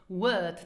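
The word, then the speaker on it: wou: Word number 8, wo. Where. Now the Luxembourgish W is pronounced like the V in English, for example, like in visit.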